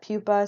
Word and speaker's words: pupa: Again, this is not pronounced pupae, but I did give you the Latin spelling there. It's pronounced pupa, okay?